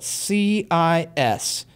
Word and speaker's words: cis: and let's call it C I S of theta. So this is pronounced cis um like a sibling that's a girl and you're it it is not a new trig function.